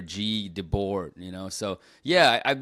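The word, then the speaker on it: Guy Debord: know it's like it's it's spelled guy in English, but uh it's I think in French it's like Gee or G Debor, you know.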